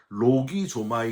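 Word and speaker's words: λογίζομαι: 헬라어로 로기 조마이 이렇게 발음을 하는데요.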